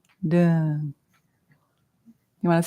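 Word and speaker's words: Dön: Dun is spelled D-O with 2 dots, which is called an umlaut. That's why it's D-O-N. Dun.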